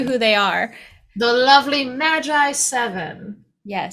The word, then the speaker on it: Magiseven: they are the lovely Magi seven yes that's how we believe it's supposed to be pronounced it could be magic seven what do you think